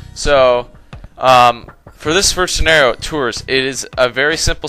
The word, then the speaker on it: Tours: It's Tours. I think that's how you say it. It's like it's French.